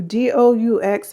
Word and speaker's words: The Doux: D O U X is pronounced Doux.